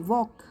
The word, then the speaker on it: walk: जैसे वॉक, WALK, वॉक। जब मैं वॉक बोलती हूँ तो क्या L का साउंड आता है? नो, जो L लेटर है उसका साउंड नहीं आती है ना, तो